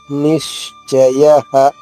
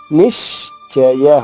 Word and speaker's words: నిశ్చయ: దృఢ నిశ్చయ. నిశ్చయ. ఇక్కడ షా చ 2 అక్షరాలు కలిసిన అక్షరం ఇది. సో నీ పైన ఆఘాతం తీసుకుంటూ షా 2 షాలుగా చెప్తూ నిశ్చయ నిశ్చయ.